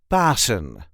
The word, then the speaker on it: Pasen: is how we pronounce bassen Bon the emphasis is on the first syllable Bon B Bon pass